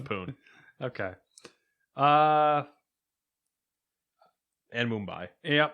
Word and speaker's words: Pune: developed by ubisoft poon is it poon pune pune you know what poon it looks like poo pun i mean listen dune is spelled the same way that's got a p so it's poon okay uh and mumbai